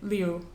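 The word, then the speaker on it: Liu: of them um also in Chinese vowels do not combine together into a single sound you always pronounce all of them so in the author's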